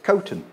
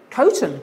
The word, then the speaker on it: Coton: Is that how you pronounce it? Coton. Coton, okay.